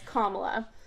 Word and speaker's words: Kamala: way i feel like a lot of people are saying her name wrong it's kamala not k not kamala it's kamala okay so the dnc included